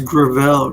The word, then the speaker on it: Gravel: Oh, it's Gravel Institute. Okay, Gravel. I mispronounced it.